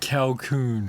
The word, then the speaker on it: Calkoen: joined by how do you say your surname because i keep saying it wrong calcoon calcoon i can't kill cal